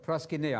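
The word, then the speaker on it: προσκυνέω: Same word, proskuneo. I'm using modern Greek pronunciation, not mispronouncing the Greek.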